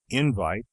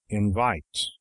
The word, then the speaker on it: invite: For instance, we properly say that a word is mispronounced when it is accented invite instead of invite, though it is really an offense against only one form of pronunciation, accentuation.